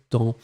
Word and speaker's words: temps: chose et bien c'est temps ici temps normalement je regarde vous l'écrivez bien attention aloaissa et Victoria posé ouais avec le S à la fin on le prononce pas c'est pas grave si